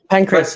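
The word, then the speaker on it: pankration: in the ancient Olympics there was something called Penn karate on I don't know if I pronounced it right pankraz yeah thank you Thank You Shan yeah yes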